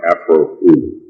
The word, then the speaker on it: Afroo Oonoo: And for the benefit of the reading public, the name Afroo Oonoo is pronounced Afroo Oonoo.